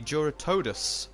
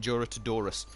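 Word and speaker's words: Jyuratodus: And that helped us defeat the Juratodus, I believe, if I'm now pronouncing it right, because I used to always call it Juratodorus.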